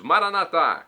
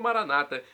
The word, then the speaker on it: Maranata: aramaico dialeto de Jesus maranat como dizemos nós católicos ou Maranata como dizem nossos irmãos separados os evangélicos ou protestantes não importa a pronúncia o significado é o